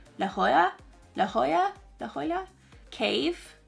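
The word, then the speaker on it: La Jolla: how you pronounce it it's LA and then j o l a like Jola but I think you pronounce it laa La Hoya La Hoya La Hoya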